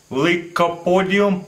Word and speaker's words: Lycopodium: going to show you pretty cool experiment with liopodium powder that's how you pronounc dragon breath powder also it's what it